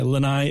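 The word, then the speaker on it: lanai: descent laai is patio it's spelled the same way as the island laai but the island of laai is not pronounced laai lenai is a patio luau that's probably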